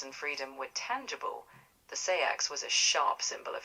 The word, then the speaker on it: seax: In Old English, it likely sounded more like sarx, with a long A that carried the word. In Scandinavian tongues, Old Norse would have had a similar sarx feel, though with a Norse edge, a bit like a saga being sung.